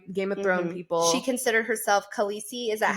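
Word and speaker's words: Khaleesi: reference for my game of she considered herself kisi is that how you say it yes that's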